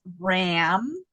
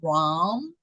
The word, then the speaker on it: Ram: mantra to chant is Ram or ROM however you want to say more ROM than Ram it's ROM but it's spelled r m and that is all